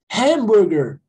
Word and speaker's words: hamburger: Então, já no inglês, eles falam o quê? Hamburger. Ham, ó. Ham. Parece que tem um R no lugar do H.